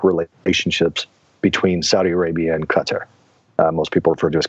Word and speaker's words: Qatar: it's not necessarily that Qatar or Qatar as properly pronounced is actually in cahoots